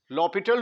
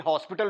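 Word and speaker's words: L'Hôpital: apply कर सके apply लॉ पिटल rule ल पिटल रूल इसके स्पेलिंग हॉस्पिटल वाले हैं लेकिन हॉस्पिटल रूल नहीं पढ़ना इसको इसको लपल रूल पढ़ेंगे लपट रूल यह हमें कहता है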